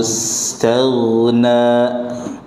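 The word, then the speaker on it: استغنى: Ghain termasuk huruf yang apabila diucapkan pangkal lidah kita naik, tebal juga dia. Jalna, jalna. Contoh. Allahu istaghna.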